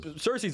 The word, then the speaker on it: Cersei: Cersei, yeah.